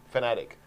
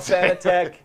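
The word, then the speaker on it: Fanatec: It's pronounced fanatic. Not fanatic. There's Thomas. You know, actually, I don't care. Darren, you could call it fanitech.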